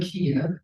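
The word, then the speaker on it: Kyiv: We used to call it Kiev, now that's the Russian pronunciation. Now it's Kiev, which is the Ukrainian pronunciation.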